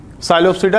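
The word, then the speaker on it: Psilopsida: तो यहाँ पे हमने दिखाया कि इनमें 4 क्लासेस हैं, साइलोप्सिडा, लाइकोप्सिडा, स्फिनोप्सिडा और टेरोप्सिडा। पी यहाँ पे सब में साइलेंट है, यहाँ भी और यहाँ भी पी साइलेंट है ना, पी टेरिडोफाइटा बोलते हैं।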